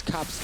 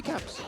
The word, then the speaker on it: Caps: those side Lanes it's cops now yeah is it cops cops cops can't get away is that the Danish pronunciation uh nope that would actually just be caps oh okay or caps